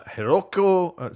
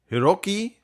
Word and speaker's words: Hiroki: the the Sony CEO uh heroko sorry Hiroki totoki I believe that is the correct uh pronunciation uh basically said by